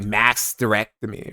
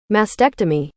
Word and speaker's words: mastectomy: I know it's like masterectomy, right? Okay. Mass tectomy. Mastctomy. No, I I'm not pronouncing that right either.